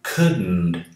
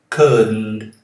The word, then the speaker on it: couldn't: didn't, você fala could, deixe a língua no céu da boca quando fala o D, could, e já começa o som do N. Couldn't. Então não tem nenhum som aqui depois de D. Um vício muito comum entre os brasileiros, eles falam couldn't. Não tem esse D aqui, ok?